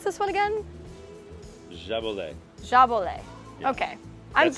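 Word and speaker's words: Jaboulet: Then How did you pronounce this one again? Jabolet.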